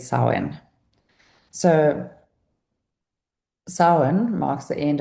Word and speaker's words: Samhain: It's spelled Sam Han, but it said sin.